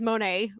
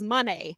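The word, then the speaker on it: Moné: want to make this so Kevin Kelly was pronouncing it as Monet like most of us have but she pronounced Mercedes pronounces it as money money and chief that's how she says it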